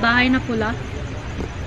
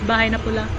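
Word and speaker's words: bahay na pula: say it in tacos it's called baha'i nakula bahai is house and pula is red so the red house baha'i napola oh okay so it's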